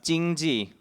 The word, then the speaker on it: 经济: And so it's pronounced 经济 in Mandarin, but you can also pronounce it in different ways in other regional Chinese languages, such as here in Cantonese.